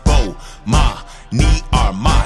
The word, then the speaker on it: Bomani Armah: to the morning announcements imma say my name so you can pronounce it oh ma me are my shout out to early